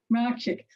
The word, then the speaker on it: Mracek: Mracek.